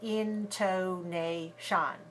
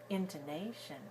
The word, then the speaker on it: intonation: very short intonation so we need to avoid making all the syllables the same length and seeing them all clearly that's something we don't do in English we don't say intonation intonation we don't say it that way was a intonation dadada so the rhythm